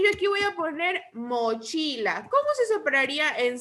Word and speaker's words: mochila: La sílaba tónica de mochila es chi, porque chi lleva la mayor fuerza de voz.